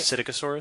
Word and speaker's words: Psittacosaurus: which is I can never remember how to pronounce the beginning of it. Cycatosaurus. I've been bouncing back and forth. I go right? Psittacosaurus.